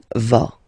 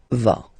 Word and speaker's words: vas: Okay, tu vas. Same thing here, final S not pronounced. Tu vas.